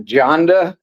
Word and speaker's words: Jonda: But Jack Jonda, you actually pronounce it with the J.